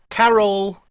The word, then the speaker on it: Carroll: uh it's just remember carroll rhymes with parole he's going to put